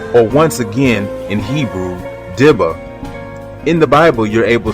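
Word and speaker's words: דִּבָּה: In the Hebrew language, the particular word within the context of specific scriptures that I speak of is pronounced dibba, which means to defame or to whisper an evil report or unfavorable saying.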